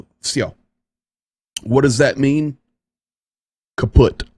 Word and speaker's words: Все: Spell it in English letters, V-S-Y-O, "Все."